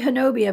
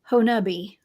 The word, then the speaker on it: Honobia: I actually had a guest on my show I like to say Honobia, but it's Honubi.